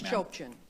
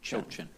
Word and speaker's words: Chopchian: It's Chopchian. It's fine. How do you say it? Chopchian. Chochin? Chopchian. Okay, Yes.